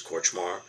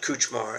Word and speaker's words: Kortchmar: my they couldn't pronounce my last name which is corchmar so it came out kuchmar and then cooch oh